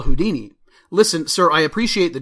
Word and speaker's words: Houdini: Harry Houdini please stand up all the contestants stand up